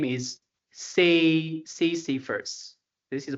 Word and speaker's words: Sisyphus: His name is Sisyphus. This is the pronunciation.